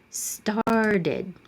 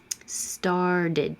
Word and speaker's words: started: Started. And I'm also going to change that T now to a D. Started, because it's between two voiced sounds, the and the duh.